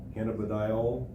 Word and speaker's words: cannabidiol: including animal food or feed, to which a cannabidiol, did I pronounce that correctly?